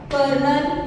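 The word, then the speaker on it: colonel: आणि लेफ्टनंट म्हणजे अधिकारी कर्नल आणि लेफ्टनंट उच्चार वेगळे आहेत आणि स्पेलिंग वेगळे आहे त्यामुळे लक्ष द्या स्पेलिंग काय आहे आणि मी म्हणत काय आहे द फर्स्ट वन कर्नल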